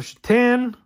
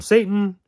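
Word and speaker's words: Šatan: Miroslav Shatan. Don't call him Satan.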